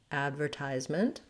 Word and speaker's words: advertisement: trying er ver adver advertisement and then i should write this as a u because we use a schwa here in this last syllable i almost go directly